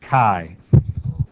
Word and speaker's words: chi: that don't you agree that's Kai squ distribution right because we're kind of lazy and so we're going to do that uh it does rhyme with pi right so pi squared